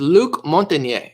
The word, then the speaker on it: Luc Montagnier: say what's the guy's name his name is Luc montagnier so it's spelled Luc and then month in yeh mo